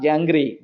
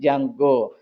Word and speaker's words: Django: Most of the people are going to pronounce Django. That's all. Not Jangri, Django.